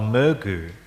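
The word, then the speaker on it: མོས་གུས: This led him to connect with devotion, which in Tibetan is a word called me-gu. Me, 2 syllables, me and gu.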